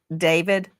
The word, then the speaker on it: DV4D: Some people look at his name and it looks it looks like D4 VD and he pronounces it David.